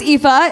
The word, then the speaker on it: Aoife: go first ever but my name is ifa if you don't know how to spell that it's actually a o i f e yeah my parents gave